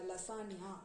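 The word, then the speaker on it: lasagna: LSANGA லசாங்கா அப்படின்னு வரும். ஆனா அத நம்ம லசானியா அப்படின்னு ப்ரொனவுன்ஸ் பண்ணுவோம்.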